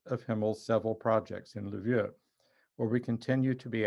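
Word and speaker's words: Lviv: of ukrainian catholic university in livia or levive as most americans would pronounce it ukraine i visited livia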